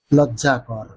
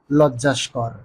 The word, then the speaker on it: লজ্জাকর: হলো লজ্জাকর ও লজ্জাস্কর সন্ধির নিয়ম অনুসারে শব্দটি গঠিত হয়েছে লজ্জা যোগ কর লজ্জাকর কিন্তু শব্দটি অনেকেই উচ্চারণ করে থাকেন লজ্জাস্কর মূলত বাংলা ভাষায় লজ্জাস্কর নামে কোন শব্দের অস্তিত্বই নেই যেটা আছে সেটা হলো